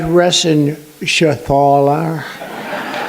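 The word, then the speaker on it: Reschenthaler: thank you and Guy Ren Shaler you know that rener he uh that's actually the way you pronounce it you know nobody else gets it right I got it right but it's a it's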